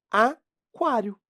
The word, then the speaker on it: aquário: u não é pronunciado no quilo mas é pronunciado no aquário então que que eu